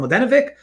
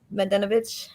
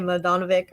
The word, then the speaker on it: Mladenovic: Mladenovic. I completely say it wrong. I say Mladenovic or anyways, I never play her.